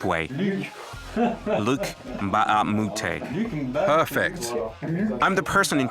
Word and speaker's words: Luc Mbah a Moute: Luc Mbah A Moute.